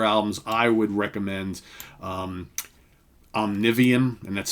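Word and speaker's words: Omnivium: choose any other albums i would recommend um omnivian and that's spelled o-m-n-i-v-i-u-m from 2011.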